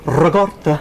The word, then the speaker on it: ricotta: we are making lemon ricotta. Nice! Huh? Come That's on. nice. Pound cake with fresh the people strawberries. say ricotta for this, for that. No. You got to roll your R's.